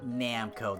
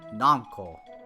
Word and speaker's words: Namco: you know what it it's not namco that's the american way of seeing it noncoal that actually makes